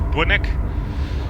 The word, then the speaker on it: Bunnik: Where we've left Driebergen-Zeist and now we're heading towards Bunnik, or Bunnik, in normal Dutch pronunciation.